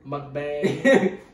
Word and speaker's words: mukbang: more like a mukbang I hate that mukbang like Bangkok I always feel like I'm saying that word wrong Bangkok yes but I know I'm not and I'm not you're saying it right yeah no there's only